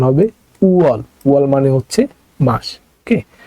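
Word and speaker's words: 월: শিখতে হলে আপনাকে সর্বপ্রথম এই ওয়ার্ডটা শিখতে হবে উয়াল মানে হচ্ছে মাস উয়াল মানে হচ্ছে মাস উপরে ইয়ং আছে তাই ইয়ং উচ্চারণ হবে না নিচে আছে উ আর এখানে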